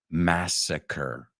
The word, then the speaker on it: massacre: And you can just tell by the second part of that, Karandiru Massacre. Se escribe igual, but we say massacre, como si fuera ER.